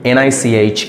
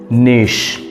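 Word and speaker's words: niche: Jewel Jewel not jeel it's Jewel number three n i c h e how would you pronounce this word the correct pronunciation is Nish the correct pronunciation is Nish not nich or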